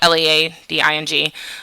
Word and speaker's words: leading: It's pronounced L-E-D-D-I-N-G, but it's spelled L-E-A-D-I-N-G.